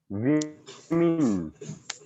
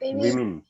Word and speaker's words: women: इसको बोलेंगे women. वहां पे men आता है तो normally हम men ही बोलते हैं women. So it is not correct pronunciation. Correct pronunciation is women.